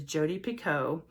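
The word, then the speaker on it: Jodi Picoult: and she corrected and said her name is Jodie Pico this one is about two women centuries apart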